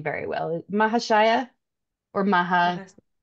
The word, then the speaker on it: Mahasaya: Mahashaya or Maha? Mahas Mahasaya. Okay, Mahasaya. Okay. I've heard other pronunciations, and so I got confused.